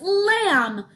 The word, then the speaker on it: lamb: here I have another word this word is lamb could you say that with me yeah ready